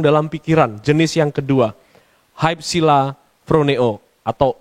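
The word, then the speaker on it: ὑψηλοφρονέω: Hypsilaproneo atau upsilaproneo tulisannya, tapi bacanya juga bisa dibaca hypsilaproneo.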